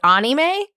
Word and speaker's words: anime: Isn't it like anime? It's anime? Because I'm learning Japanese. I'm just pronouncing it the correct way.